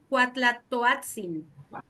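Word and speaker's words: Cuauhtlatoatzin: Entonces, ¿cómo se pronuncia? Ahora se los puse más difícil, ¿verdad? Sí. Cuautlatoatzin.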